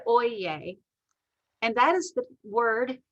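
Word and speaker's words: oyez: know is oyen and it's spelled o y e z but it is said oyeye and that is the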